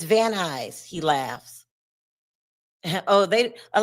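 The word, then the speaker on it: Van Nuys: It's vanis. He laughs. Oh, they a lot of people unless you're from LA don't know how to pronounce van eyes cuz it's not pron it's not spelled van eyes anyway.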